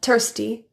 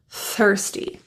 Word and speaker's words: thirsty: when you're really thirsty the th and thirsty also involves that tongue tip creating friction with your front top teeth so if you pronounce this word as tsty allow your tongue tip to relax out and away from that front tooth to allow some air through first thirsty listen to the